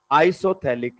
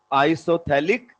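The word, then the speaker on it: isophthalic: इसको बोलते हैं आइसोथैलिक एसिड। पीएच साइलेंट है इसमें, आइसोथैलिक एसिड।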